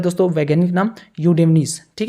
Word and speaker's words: Eudynamys: लेकिन इसका वैज्ञानिक नाम क्या है, यूडेमनीज। ई साइलेंट रहता है, EUDYNAMYS, यूडेमनीज।